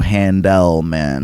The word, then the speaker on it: Handelman: My last name is spelled like it sounds, but it's E-L, so Handelman. Like the ice cream.